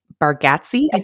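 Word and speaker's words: Bargatze: you know the comedian Nate bargatz bargatzi is how you say his name okay so he has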